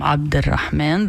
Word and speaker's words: Abd al-Rahman: So this was Abdul, or how is it pronounced in English, but we call him Abd al-Rahman, the servant of the merciful, on CNN.